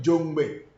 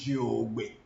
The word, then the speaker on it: Jogbe: Our people call it Jongbe. But the real pronunciation is Jogbe.